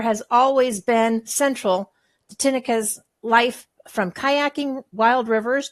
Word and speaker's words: Tineke: Did I pronounce that right, Tineke? Yeah, Tineke.